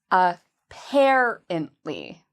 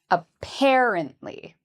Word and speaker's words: apparently: So it's the part we say louder and longer. Apparently. Apparently. So here it is. Apparently. Apparently. And again, the stress for adverbs is very important. It really helps people understand what you're saying. So make sure you use you stress the right syllable when you say this word.